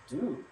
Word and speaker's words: du: Of course, you need to point to the person next to you, and you address them as do, which means you. As in do us.